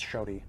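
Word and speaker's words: Xoti: Peak season 3 and how do you pronounce shy it's shy x o TI shy uh my hopes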